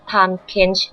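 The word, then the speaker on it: Tahm Kench: น้ำ กัน แน่ ชื่อ ของ เขา อ่าน ว่า Time Kench นะ คะ ซึ่ง นั่น เป็น ชื่อ ที่ อ่าน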